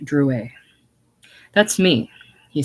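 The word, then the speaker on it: Drouet: leftand corner Chaz H Dru that's me he said putting the card in her hand and touching his name it's pronounced Dru our family was French on my father's side she looked at it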